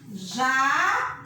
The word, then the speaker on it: jatobá: Agora a segunda é jatobá. Fácil de saber qual é a sílaba mais forte.